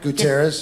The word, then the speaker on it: Gutierrez: Gutierrez.